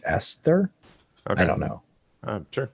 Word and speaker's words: Aesthir: I guess Yes. that's pronounced Esther.